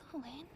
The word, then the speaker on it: atelier: Dude, I love That is my atelier. Atelier? I've been saying it wrong.